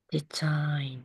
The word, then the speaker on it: design: 이거 어떻게 읽어요? Design, 디자인 그 발음 안 되죠.